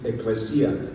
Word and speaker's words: ecclesia: and because the original word that is being used for church in the Greek is pronounced ecclesia.